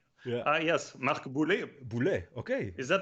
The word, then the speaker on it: Boulé: Ah, yes, Marc Boulé. Boule. Okay. Is that how it's Marc pronounced, Boule. Marc? Mark Boulé. Boule is also with us in the chat. Boulé.